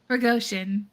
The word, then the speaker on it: Prigozhin: Prigozhin.